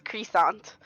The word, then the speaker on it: Crisiant: No, we're pretty evangelical, but I've also been pronouncing it wrong. It's Crescent.